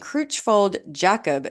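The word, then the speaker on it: Creutzfeldt-Jakob: dementia front to temporal dementia Huntington's disease and crold jackob disease and yes I did look up how to actually pronounce that doctors have identified other conditions that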